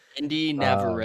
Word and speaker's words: Indira Varma: I I don't know how to pronounce the actress's name. Indira Varma, I believe.